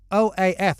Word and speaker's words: OAF: it's called oh but it's o-a-f it actually stands for something but you pronounce it oh i mean it is yeah yeah we call it oaf i mean it's out